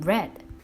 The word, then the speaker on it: read: put it is still put read will become red even though the spelling is the same but the pronunciation is not the same the last one